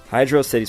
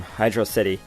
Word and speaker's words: Hydrocity: It's been a debate among fans to how to pronounce the name Hydro City. I used to say Hydrocity, but it is in fact Hydro City Zone. 2 words.